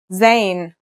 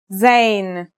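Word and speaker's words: زاي: a DOT on top in terms of pronunciation you say just like the English Z as in zebra or al-jazeera practice saying Al Jazeera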